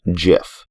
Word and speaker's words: GIF: so as you heard he pronounces it with the soft g as in jif now let's keep a